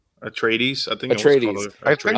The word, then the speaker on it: Atreides: The synopsis goes, and I don't think I'm ever going to pronounce this correctly. Paul Atreides, right? Is it Atreides or Atreides? Atreides, I think Atreides.